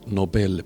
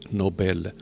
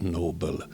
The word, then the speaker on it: Nobel: he would get The Nobel Prize yes the real name is Nobel not Noble it's a Swedish name so it's pronounced Nobel D believes that he